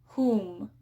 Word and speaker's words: whom: And then we also have words with the silent W, such as who, whose, whom. Right? It's that W is silent and it's the H sound that we hear.